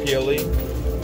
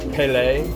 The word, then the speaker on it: Pelee: And this How's on Lake pronounced? Erie. Pelee? Canadian. Okay. Pelee. Pelee.